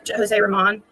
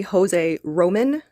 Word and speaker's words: Jose Roman: I know it's Jose Ramon. It's actually Jose Roman, and I know a lot of us have been saying it wrong or had been saying it wrong.